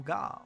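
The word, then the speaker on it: ガ: The G sound is always pronounced as hard G. Don't be tempted to pronounce it like a J.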